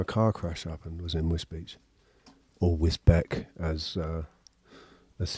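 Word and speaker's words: Wisbech: Whisbeck, which is actually pronounced Whiz Whizbe Beach.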